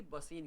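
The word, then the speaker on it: वसई: एक संधि भी थी, बसीन की संधि, इसको बसई बोलते हैं मराठी में, बसई गांव हुआ करता था, और वैसे ही बसीन या बेसिन बोल देते हैं।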